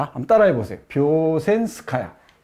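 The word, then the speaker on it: Вёшенская: 뷰센스카야. 한번 따라해 보세요. 뷰센스카야. 예, 여기 뷰젠스카야라고 했는데 이 발음이 좀 어렵습니다.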